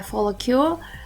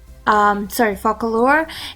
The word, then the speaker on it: Focallure: Focallure, I always call it like follicule. Oh my gosh, I always mix the C and the L all the time. It's so frustrating. But yes, it is Focallure.